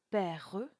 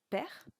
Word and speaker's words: père: De même, on ne dira pas père, mais bien père, qui ne donnera qu'une seule syllabe.